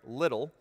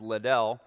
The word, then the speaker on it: Liddell: in the 1924 olympics eric little often mispronounced as liddell a devout scottish christian